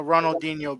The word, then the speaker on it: Ronaldinho: gonna do you know this one too oh ronaldinho br ronald that's how you say it for